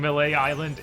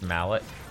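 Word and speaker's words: Mêlée Island: to DMC world sure you saying melee Island isn't real I'm saying melee island is not real it's incredibly real don't listen to Bob actually it's pronounced Mallet Trish was just stroking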